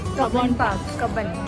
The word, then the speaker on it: Cubbon Park: How should we pronounce it? Cubbon Park. Cubbon Park.